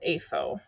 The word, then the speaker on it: AFO: an animal feeding operation, abbreviated as AFO and pronounced as AFO.